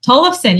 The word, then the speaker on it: Tollefson: Yeah, Tollefson, you got it.